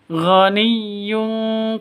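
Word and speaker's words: غني: Ghaniyyun karim, non tanwin bertemu dengan kaf, samar dengung, tanwinnya ditambah dengan ng, ghaniyyun, seperti itu. Jadi bacanya yung, dengung dua atau tiga ketukan.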